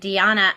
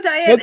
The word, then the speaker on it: Diana: And Deanna, I'm sorry. I think I've been pronouncing your name incorrectly. So. It's okay. No, Diana.